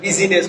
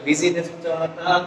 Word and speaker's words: business: আসলে তো মনে হয় যে বিজিনেস উচ্চারণ হবে, আসলে বিজিনেস উচ্চারণটা ইনকারেক্ট। আমরা সবাই জানি এটাকে ভুল করে না সাধারণত। এখানে আই শব্দটা ড্রপ হবে, ড্রপ করলে পরে উচ্চারণটা হয় কি বিজনেস।